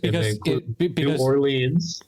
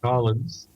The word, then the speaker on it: New Orleans: Because not so much as tell you that what there's many pronunciations that I've heard that are all acceptable to people. Because New Orleans, and they include Nolans.